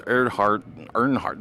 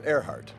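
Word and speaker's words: Erhardt: Lawrence Earnhardt. How do I pronounce that? It was Earhart.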